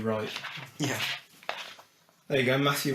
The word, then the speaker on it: Wright: Matthew _ Silent W Wright.